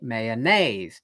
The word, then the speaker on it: mayonnaise: So if I say, I like mayonnaise, okay, mayonnaise, da da dun. So the accent in mayonnaise is on the third syllable, 1, 2, 3.